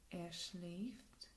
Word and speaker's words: schläft: Again, like laufen, they just add an umlaut to the A's and the do and the AZS form, which changes their pronunciation. So, schlafen, to sleep. Ich schlafe, du schläfst, schläft, wir schlafen, ihr schlaft, sie schlafen.